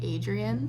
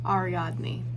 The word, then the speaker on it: Ariadne: want to preface that I completely butchered the name and I said as Adrian um it's not I said as name ariadne I'm a little dyslexic